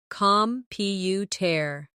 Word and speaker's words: computer: Repeat after me. Computer. The stress is on the second syllable, computer. Now, photograph.